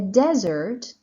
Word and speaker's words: desert: is little raint desert stress is on the first syllable it is different from the word desert uh where the stress is on the second syllable but this is desert field is an area